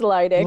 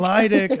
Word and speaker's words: Lydick: It's Lydick. Lydick.